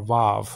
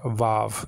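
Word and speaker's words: וו: mean Biblical Hebrew is wow you know like that it was it was a w w sounding letter but some people pronounce it like a V sounding letter VAV you know so um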